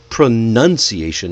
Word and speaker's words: pronunciation: By the way, it is pronunciation, not pronunciation. That's okay.